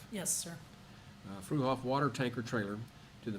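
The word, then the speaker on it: Fruehauf: Consider, discuss, and take appropriate action to donate RBU051, a 1985, you say pronounce that fruhoff. Yes, sir. Fuhoff water tanker trailer to the Mountain Home Volunteer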